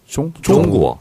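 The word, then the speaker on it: 中国: 그래서 중국은 네. 중으로 안 나고 구어. 종구어. 종 발음 있잖아요. 받침 있잖아요. 종구어. 이응 받침이 아니에요.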